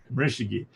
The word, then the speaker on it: Morishige: find his music, but his name is pronounced the way it's spelled, the way it sounds, Morishege, Morishige. So yeah, he just did